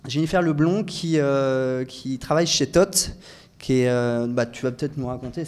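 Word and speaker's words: THOT: J'aimerais donner la parole à Jennifer, Jennifer Leblon, qui travaille chez Tot. Tu vas peut-être nous raconter ce qu'est Tot. On va dire qu'elle est engagée. Bonsoir. Donc TOT, ça s'écrit T-H-O-T, pour transmettre un horizon à tous.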